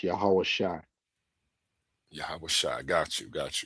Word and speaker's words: Yahweh: um in the scriptures, and it's pronounced Yahweh.